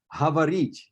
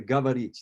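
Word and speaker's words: говорить: They, for instance, will say havarit as opposed to gavarit. They will still use that h sound.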